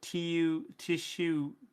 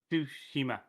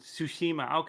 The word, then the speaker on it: Tsushima: So it's the Tsushima. T is silent then. Yeah, but the TSU is kind of done as one sound. So Su. Okay, Tsushima. So Tsushima.